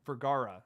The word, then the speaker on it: Vergara: I know it's not Viagra.